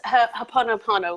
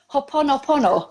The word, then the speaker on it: Ho'oponopono: He cannot pronounce it either. Oh, well, that's brilliant. That's Ho'oponopono, which is a Hawaiian healing prayer and technique. Ho'oponopono.